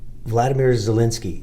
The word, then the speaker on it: Volodymyr Zelensky: And I feel like Volodymyr Zelensky, am I pronouncing his name?